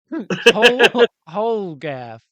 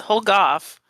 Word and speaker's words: Holgoff: Holgaff Utsen. That's played by Bloomerald, aka Wifekins. What does your snowman look like? First of all, it's Holgoff.